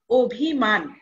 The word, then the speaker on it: অভিমান: এটা হবে অধ্বনির মত যেমন অভিমান এইখানে আমরা বানানটা কি দেখছি অ ভয়রস্ ম আকার দন্তন্য কিন্তু আমরা যখন উচ্চারণ করব এর উচ্চারণটা হবে ও ভয়রস্ ম আকার অর্থাৎ অভিমান এই যে অ এর পরে আমরা কি দেখছি রসইকার রয়েছে এইজন্যে অ এর উচ্চারণ কি হয়ে গেল ও হয়ে গেল তেমনি আরেকটি উদাহরণ যদি